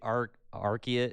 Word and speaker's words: Arceus: How do you say Arceus?